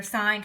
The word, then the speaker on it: sine: We abbreviate it by just doing sin like that, and some people think it's the word sin, but it's not. It's pronounced sine.